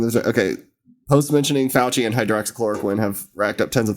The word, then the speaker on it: hydroxychloroquine: social media insights tool posts mentioning fauci and hydrochloroquine uh am i saying that right still yeah hydroxychloroquine hydroxychloroquine god that's too many syllables homie that's why we should like not